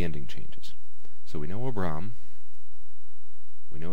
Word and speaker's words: Abram: Abram from Genesis 12 two- syllable word both of these syllables are closed AB Bram and the accent is on the second syllable but now let's take